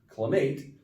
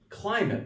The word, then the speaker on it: climate: you're gonna have the accent on the first syllable like climate not clemate but climate like south bend has a great climate we